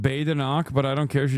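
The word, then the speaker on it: Badenoch: It's pronounced Bay-da-nock, but I don't care.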